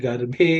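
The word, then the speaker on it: गर्भे: This bha is the fourth letter in the pa varga, so it has to be aspirated.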